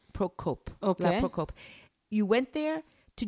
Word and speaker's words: Procope: a place where you went how do you spell that name p r o c o p e procope procope you went there to drink either coffee